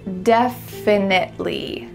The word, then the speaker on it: definitely: All right, let's go through each of these challenge words so that you can pronounce them correctly. What's happening with this word definitely?